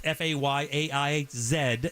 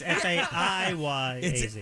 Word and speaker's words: Fayez: That's Fayaiz, as he says. K-A. You completely butchered that. Yeah, it's Fayaz.